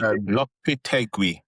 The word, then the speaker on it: Lopetegui: Lopetegui.